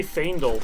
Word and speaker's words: Faendal: I just say Faendal because it feels more elvish to me. And it also is spelled F-A-E, which is Fae.